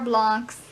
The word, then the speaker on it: Blanc: first novel of Nero Blanc's. I hope I'm saying that right. So it's not Bland, it's Blanc's friendly-ish, clever crossword mystery series.